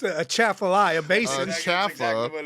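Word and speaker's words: Atchafalaya: And look, man, I'm gonna pronounce it as it's spelled. You guys just don't know what it is. It's Achalafalala, right? But It's a Chaffalaya basin.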